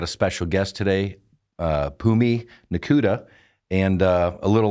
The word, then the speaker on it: Phumi: Got a special guest today, uh, Pumi Nakuda. And, uh, a little line I came up with is is, uh, when you're on the mic, the H is silent, but you're not, you know.